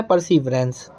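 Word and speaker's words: perseverance: परसीवरेंस, ठीक है, इसका सही प्रोनाउंसिएशन है परसीवरेंस।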